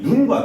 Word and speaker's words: 눈: 짧게 발음하는 눈은요, 이 아입니다. 짧게 발음하는 눈은 이 신체 일부인 눈을 뜻하고요. 이 길게 발음하는 눈은 이제 스노우가 됩니다. 스노우. 여러분들 군대 가면 겁나 쓸어야 되는 이 스노우가 됩니다.